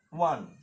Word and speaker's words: one: O word started with O letter and pronounced wa, like wa.